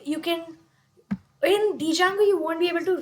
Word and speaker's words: Django: the code for installing Django. Then space and Django. Django is usually spelled as Django and it is widely known as Django, not Django. The D is silent, but I prefer to call it Django.